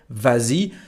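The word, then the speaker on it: vas-y: is no s here so why do we have S well again it is to help the pronunciation in this case it's not a t but s it's like that so we say vazi and we write VA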